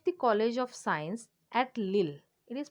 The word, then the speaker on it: Lille: as head of the college of science at lille it is pronounced as lynn which was situated in the